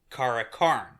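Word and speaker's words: karlakarl: a man's man is Karlakarn, but the L is silent, so it actually sounds like Kara, and then when you put the definite article on, it's Kara Karn.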